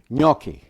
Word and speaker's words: gnocchi: Uh, today I'm going to do a session on Uki. You know, I grew up thinking was spelled with an N. N O O, but it's a GN.